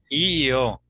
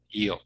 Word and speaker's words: yo: No, es yo. Yo, Porque aprendí yo, ese IO parece italiano, ¿no? sí. Yo, ustedes no hablan así, ¿no? Yo.